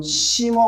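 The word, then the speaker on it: Singer: 그리고 한 번에 확실히 해 두자면 이건 심어 오일이에요. 맞아요. 영어로 가수처럼 싱어라고 발음하지가 아니에요.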